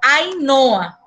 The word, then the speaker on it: Ainhoa: Que em espanhol, esse H intermédio não tem um som, entendeu? Ele não é sonorizado. Então, ele queda como Ainhoa. Ainhoa. E não Ainhoa. Só como é escrito com NH, vocês pronunciam como Ainhoa. Entendeu? Mas ele não é Ainhoa. Ele, em espanhol, é Ainhoa. É como se o H não existisse.